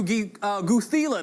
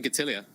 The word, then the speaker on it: Gatilia: When it comes down to Guthila, the professor himself, okay, with the Oxford White, how do you pronounce his name? We call him Gatilia. Gatilia! Yeah. That's so much cooler than what we were saying.